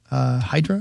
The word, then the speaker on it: Hydra: I went to an island called Hydra, or it's pronounced Hydra over there, in Greece when I went and ran the Athens Marathon.